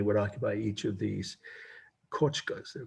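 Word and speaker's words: kotcha: For instance, these teepee-looking houses are the Miwok kochkas. And that's the right word for this. That's part of the meaning, kochka, K-O-T-C-H-A.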